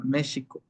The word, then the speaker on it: México: La X anteriormente se pronunciaba como sh. Por ejemplo, México no era México o no era México, sino que ahora, anteriormente era México.